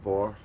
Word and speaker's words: VOR: Radio VOR, not war, but VOR, or war, but spelled with an O, not an A.